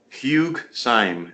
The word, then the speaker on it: Syme: I'm sorry, let me find the designer oh, Hugh Stein. I'm probably pronouncing his name wrong.